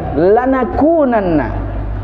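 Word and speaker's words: لَنَكُونَنَّ: tidak mau mengasihi kami lanakunanna bacanya gitu lan aku Nana Jangan sampai salah baca ya Lex apa Mbak coba bareng-bareng hilangnya Lan aku jadi yang panjang itu di kosnya bukan lamnya Lan aku dengan nah niscaya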